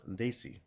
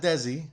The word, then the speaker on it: Desi: the bass they see hit squad remember it's pronounced they see and I'm telling you as a guy with South Asian descent here the word is they see not desi as Josh Mathews likes to call they see